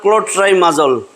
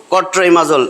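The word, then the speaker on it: Clotrimazole: পরীক্ষায় অনেকে উচ্চারণ করো কট্রাইমাজল, এই জন্য তখন লিখতে দেই, তখন দেখা যায় এটা নাই, এলটা নাই, কারণ কট্রিম ওইটা একটা ওষুধ, ওইটা অ্যান্টিব্যাকটেরিয়াল ড্রাগ, কট্রিমক্সাজল।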